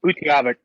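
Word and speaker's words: Utqiagvik: to say Barrow, Alaska, because I can't even pronounce that other name. Or can you give us, what's the official name? Of Utaqgivk.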